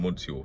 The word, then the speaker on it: monsieur: will purpose yo monsieur i'm not saying miss you i'm saying monsieur that's how you pronounce it oh you [